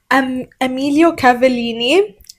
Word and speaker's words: Emilio Cavallini: And then the tights again are Emilio Cavallini. That's how you pronounce the name.